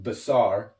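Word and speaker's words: בשר: living is 32 20 in the Strong's it's pronounced basar the definition for a living is flesh okay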